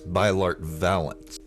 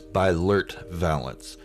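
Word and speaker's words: Beilert Valance: rendar spot and that's bylart valance sorry i pronounced his name wrong it's by lurt valance and he's kind of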